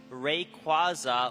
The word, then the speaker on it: Rayquaza: It's Rayquaza like quazar, dude.